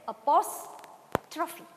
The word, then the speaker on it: apostrophe: stress here is the apostrophe the word is pronounced as apostrophe apostrophy it's written like this apostrophy and you